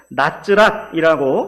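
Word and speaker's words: נצרת: 히브리 말로 나사렛은 나츠랏이라고 발음이 되고 그 표기를 우리나라 한글로 하자면 니은, 쌍지읒, 리을 이렇게 표기가 됩니다.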